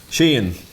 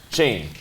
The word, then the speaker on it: Sheehan: Sheehan. Sheehan. Sheen. Sheen. Can you just say Sheen, like Mr. Sheen? Yeah, pretty much. Mr. Sheen? Just like EEAN almost.